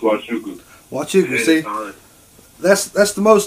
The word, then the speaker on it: Nwachukwu: It's pronounced Nwachukwu.